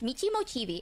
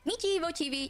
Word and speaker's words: Michimochievee: So my name is pronounced Michimochievee. I know some people were wondering how to pronounce it. It's Michimochievee.